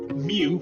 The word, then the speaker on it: mu: work out the mean mu which is equal to n multiplied by P so remember this symbol here is a Greek letter and we pronounce it as Mu and this is the